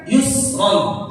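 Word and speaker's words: يُسْرًا: Nah, membaca ro-nya jangan sampai seakan-akan kita baca ro, tapi setelahnya ada huruf hamzah yang kita baca yusro lah. Kita baca mesti yusro.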